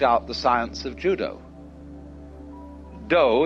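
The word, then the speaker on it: 道: Do is the way the Japanese pronounce Dao.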